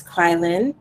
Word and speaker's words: Kweilyn: someone his name is kweilyn oh pronounced like quiet quiet okay um and